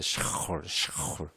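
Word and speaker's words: שאול: 사울은 그냥 사울 이렇게 읽으면 못 알아들어요. 원래 샤울이에요. 샤울. 샤울이라는 말이 히브리 말 이스라엘 말이다 보니 발음하기가 어려워요.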